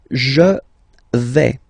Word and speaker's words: je vais: The first form is je vais. Okay, so remember, final S not pronounced here.